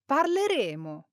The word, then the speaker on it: parleremo: In the future, we use one M and we use two M's for the conditional. Listen to the difference. Parleremo.